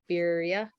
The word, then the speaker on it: birria: Birria tacos.